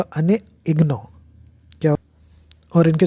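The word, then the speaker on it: Annie Ernaux: Literature में जिनको मिला है उनका नाम है एनी अर्नॉक्स। ये एक फ्रेंच लेडी है, ठीक है। वैसे फ्रेंच में इसका प्रोनाउंसिएशन होगा अने इग्नो, क्या।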